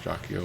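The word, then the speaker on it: Jaquio: So this Jakio thing in Japanese is actually pronounced Jakio, and it means like evil, evil energy lord or something like that.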